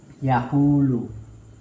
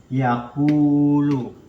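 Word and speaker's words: يقول: Nah, jadi contohnya itu yaqulu. Yaqulu. Nah, jadi kalau setelah harokat domah itu bertemu dengan wawu sukun, itu mad tabii atau disebut mad asli. Nah, dimana panjangnya itu dua harokat ya. Membacanya yakulu.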